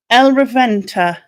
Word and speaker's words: El Reventa: Now, El Reventa, is that how you pronounce it?